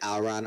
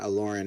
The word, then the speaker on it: Aloran: The way I pronounced Aloran is it's the Alron. way you pronounce... Oh, it's Alron? Okay. Most people pronounce it Alron. Aloran is fine, too.